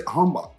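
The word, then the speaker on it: 한복: And then you were talking earlier about, did you say hanbok is how you say it, right?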